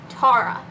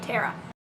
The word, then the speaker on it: Tara: It is pronounced Tara. And no, we did not have to go back and re-record this multiple times because I kept saying Tara.